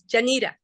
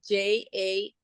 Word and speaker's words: Janita: It's Janita. Oh, wow. I really did botch it. I apologize. That's a hard name. Even my husband, when we met, he graded like Janeeda, which is not how I spell it, but he graded like that.